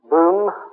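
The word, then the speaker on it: Böhm: his great pupil was a another Austrian named boom b b o hm with an o l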